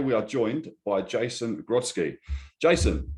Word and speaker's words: Grodski: My name's Craig, your host, and today we are joined by Jason Grodski. Jason, how you doing? Very good, thank you. Very good. I'm glad I pronounced your surname right anyway.